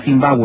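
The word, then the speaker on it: Zimbabwe: casas de piedra que expresado en la lengua local se pronuncia sin vago y de ahí el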